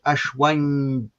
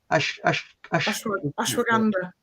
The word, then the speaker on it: Ashwagandha: And the name I can hardly pronounce, Ashwanga, is very good for mood, brain fog. Sorry? Ashwagandha.